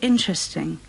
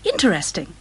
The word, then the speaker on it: interesting: H, you say interesting. Three syllables. Interesting. Some people say interesting.